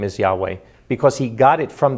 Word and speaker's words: Yahweh: pronouncing it publicly that they never lost the pronunciation and that's what the the top rabbis in Israel believe the name is Yahweh ya know and it's a very good point